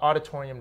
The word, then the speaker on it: Aweditorium: do we find you on the web uh auditorium. comom it's spelled a little yeah it's spelled awe d i t o r IU M okay and you're on Twitter and Facebook as well Auditorium okay thank you very much thanks Robert